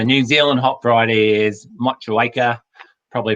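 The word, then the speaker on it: Motueka: then uh the new zealand hop variety is much awaker probably pronounced that wrong again no you've got that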